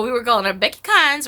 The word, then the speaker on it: Carnes: And but we call her Becky Carnes because in Massachusetts everyone has this accent. That's how they would pronounce her name. It took me forever before I realized there was an R in there.